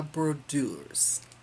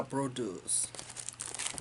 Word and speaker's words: Brodeuse: at StitchCon, and I love the way she pronounces this. But I'm gonna try it. It's Jardin Privé. It's ABC de la Brodeuse. So I can't roll my R's. So it's ABC de la Brodeuse.